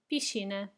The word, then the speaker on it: piscina: Piscina, piscina. Do you see the S and C together? They become sh. Sh. Piscina.